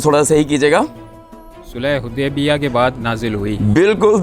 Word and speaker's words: حدیبیہ: سورہ فتح صلح حدیبہ کے بعد نازل ہوئی۔ تلفظ تھوڑا صحیح کیجیے گا۔ صلح حدیبیہ کے بعد نازل ہوئی۔